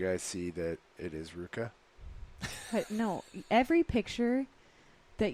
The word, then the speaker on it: Rivka: Rivka is pronounced Ruka, but where's this from?